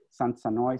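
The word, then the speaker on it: Sansenoy: So we have here a way, a key to pronounce them as Sanoi, San Sanoi, Semangalaf, and Semengalon.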